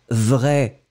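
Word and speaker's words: vraie: Nous ne prononçons pas le E. Et donc, vous obtenez vrai, masculin, vrai, avec le E, féminin. D'accord ? Dans les deux situations, vous allez prononcer cet adjectif de la même façon.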